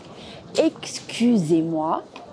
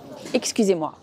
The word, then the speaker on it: excusez-moi: « salut » et la terminaison « ez » qui se prononce « et » comme dans « journée » et « soirée ».